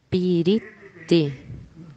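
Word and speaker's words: পিরিতি: Remember you are saying three. Já a palavra em Bengali, que é piriti, 3.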